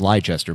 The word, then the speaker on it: Leicester City: Quote, in honor of my favorite English team since 2016, Leicester City, it's pronounced Leicester.